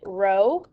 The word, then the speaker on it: rho: you this guy here it looks like a lowercase p we pronounce it rho that's a greek letter that is for the population okay so a population correlation coefficient is rho and our sample correlation